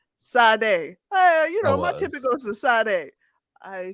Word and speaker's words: Sade: Sade, my guy. Before we started recording, I was saying her name wrong, and Boogie was like, "Nigga, that's not her name."